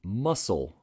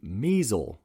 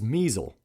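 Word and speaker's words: Muessel: South Bend Brewery while this is true I pronounce the brewery as the muscle Brewing Company whereas it is actually the measle Brewing Company so it's spelled m-u-e-s-s-e-l but that is measle not muscle these things are very important so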